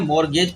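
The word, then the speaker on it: mortgage: मोर टी इसका silent पढ़ा जाता है, मॉर्गेज पढ़ा जाता है, टी स्पेलिंग में होता है।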